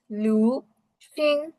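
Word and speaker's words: 旅行: দেন travel, তাহলে এটা উচ্চারণ কি হবে? লু সিং, লু সিং, লু সিং, লু সিং, অর্থাৎ কি ট্রাভেল।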